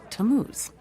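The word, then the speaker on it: Tammuz: It's pronounced Tamuz.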